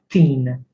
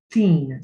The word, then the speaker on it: tin: To in tin. It's not pronounced tin. If it had to be tin, it would be T-I-N-N. Tin. But we say it teen.